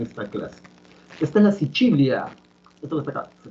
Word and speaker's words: Sicilia: Esta es la Sicilia. Esto que está acá, se pronuncia así, Sicilia, es un nombre italiano. La C en italiano siempre se pronuncia como che.